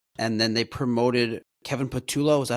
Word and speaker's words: Patullo: Kellen Moore, out, and then they promoted Kevin Patullo. Is that how you pronounce it?